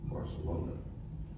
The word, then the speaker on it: Barcelona: So if you think of it musically, Barca is pickup, and O is downbeat, Barcelona. Now, tell you another song that does that is Desperado, right? Same number of syllables, third syllable, downbeat. Desperado, that's where the downbeat is, Barcelona.